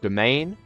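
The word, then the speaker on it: demesne: Next across is your domain. It's spelt weird. It's pronounced like, it's basically pronounced the same as domain, and this is how many counties you personally hold.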